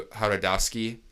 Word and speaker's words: Jodorowsky: Alejandro Jodorowsky. I think it's something. I think the J is silent.